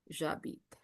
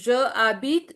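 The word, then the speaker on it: j'habite: You will be pronouncing together because it is following लेज़ियो। लेज़ियो means a consonant is फॉललोड बाय a vowel. इसको हम कैसे pronounce करेंगे? We will be pronouncing it एज जाबीत। हाउ we will pronounce this? जाबी। जाबीत। इट इज़ नॉट ज आबीत नपबीत एंड हाबीत इट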